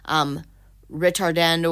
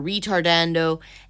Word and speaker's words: ritardando: There's different ways of pronouncing these words, but typically we say ritardando or retardando, and for short, rit.